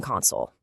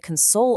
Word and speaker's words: console: You've got a gaming console, where the emphasis is on that first syllable. But then you try to console a friend and the emphasis shifts to the end.